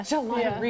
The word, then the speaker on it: Gelataria: Gelataria.